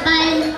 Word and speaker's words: palm: yon hindi pa nasabi palm tree Nasabi mo na kanina palm Yun nga palm tree palm tree Kaya nga may silent L ang ano non ang big palm tree yan ah ano pa